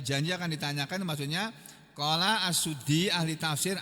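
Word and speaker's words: As-Suddi: Nih diterangkan maksud ayat ini janji akan ditanyakan maksudnya qala asuddi ahli tafsir asuddi bukan sudi silalahi tapi asuddi ahli darangan tabiin itu ada namanya assuddi ada yang bacanya asaddi.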